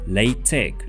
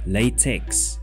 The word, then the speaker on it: LaTeX: This software is pronounced LaTeX, not LaTeX, as you might initially think.